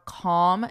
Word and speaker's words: calm: Notice for pronunciation, there's no L in this word. It's not call with an L. No, it's calm, om. And notice the vowel even. It's an ah, om, om, calm, calm down, calm down.